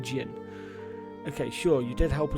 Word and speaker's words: Jin: an evil evil man Zen sorry not Zen Jin they actually pronounce it Jin okay sure you did